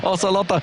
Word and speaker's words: Ocelote: Ocelote, as his proper pronunciation there, with his scarf on.